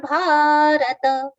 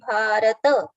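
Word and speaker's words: भारत: Then abhijatasya bharata. Abhijatasya, stress on the. Tasya bharata. Ta should be full, not bharat. It should be bharata.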